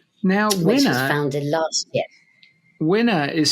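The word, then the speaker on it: Winna: uh so CEO of winner media now wner founded last year winner is spelled w i n n a but still rhymes with dinner as in winner winner chicken dinner was that expression uh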